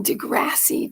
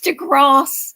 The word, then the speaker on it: deGrasse: white um he used to call him Neil Degrassi Tyson I'm going it's to Grass this is look do you see do you